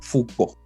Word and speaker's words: Foucault: Ahí para los que de repente piensen en cómo pronunciarlo, no es más que una F-U-K-O, y como si tuviese la tilde en la O, Foucault.